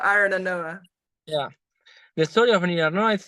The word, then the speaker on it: Arinarnoa: Can you tell us a bit about, I'm doing a terrible job with pronunciation. It's not only you, it's for everybody has that problem. Arinarnoa. Arinarnoa, right?